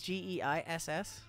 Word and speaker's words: Gaius: Isn't Geis Geiss?